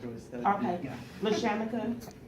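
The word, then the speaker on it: LaRShamika: Okay, LaShamika, the R is silent, it's L-A, capital R, and it's silent. You might want to make a note. Capital R's. SHAMIKA. LaShamika.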